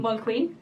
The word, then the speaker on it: Mulqueen: Mulqueen. Yeah, just want to make sure that I get that get the pronunciation right.